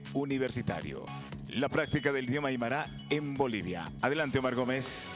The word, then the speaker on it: aymara: dice aymara o aymara lo que pasa es que en el idioma aymara si el acento tiene posición fija y él siempre va a decaer en la penúltima sílaba de la palabra no tiene no tiene digamos sílabas que terminen en la boca al final por lo tanto se dice aymara y no al martínez que hablamos tenemos la influencia del castellano decimos al mar así como podemos conceptualizar